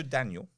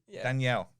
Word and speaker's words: Danielle: things and that's it it just goes so daniel yeah as your new name is now daniel danielle daniel i'm gonna go crazy danielle yeah i